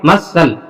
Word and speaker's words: muscle: अगला देखेंगे बेटा MUSCLE, सी के तुरंत पहले यस आ गया तो यहाँ पे सी का प्रोनाउंसिएशन नहीं होगी, सी क्या होगा साइलेंट।